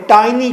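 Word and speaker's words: tiny: जिस तरह हमारी इंग्लिश की पुरानी प्रोनाउंसिएशन अदायगी में टिनी लफ्ज़ है, टिनी, अब हम टिनी नहीं कहते, हम क्या कहते हैं, टाइनी कहते हैं।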